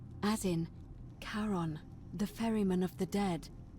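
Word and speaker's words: Charon: it's just as you described it only your pronunciation is a little off the name you heard wasn't Karen it was c h a r o n as in karon the fairy of the Dead Kon who in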